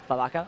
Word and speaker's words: Leviakittens: Now, if you want an update, FTWin versus Leviakittens. How do you say that? Leviakittens?